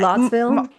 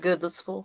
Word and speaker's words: Goodlettsville: gonna go from Nashville to Goodlettsville. Um, Wow. it's Yeah. Goodlettsville. Yeah. But I- Goodlotsville. Sorry. For the record, Goodlettsville.